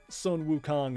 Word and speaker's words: Sun Wukong: actually the same spelling it's just Sun wuk Kong is the Chinese reading and Son Goku is the Japanese reading I've never I've never